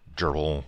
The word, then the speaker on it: grbl: I'm debating switching this machine away from grbl or gerbil, or however you want to pronounce it, with the Arduino controller, and switching over to Linux CNC, which would mean replacing the controller board.